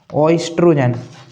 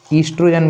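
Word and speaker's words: estrogen: में स्टूडेंट्स होता है ओस्ट्रोजन ईस्ट्रोजन बोलते हैं इसको ओसाइलेंट होता है ईस्ट्रोजन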